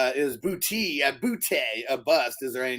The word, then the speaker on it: Boutte: Like, I mean, he's booty. It's French. It's pronounced Boutte.